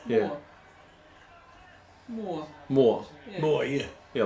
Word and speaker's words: Moore: double o r e m o r e yeah more more more yeah yeah like stephen moore and mike moore right how else do